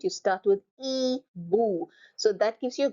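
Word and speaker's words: hibou: so the first word is an owl H is silent you start with e boo so that gives you a clue I is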